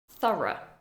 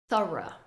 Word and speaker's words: thorough: the first word is thorough thorough we have the th sound th a r and then the GH is silent Thor Thor she did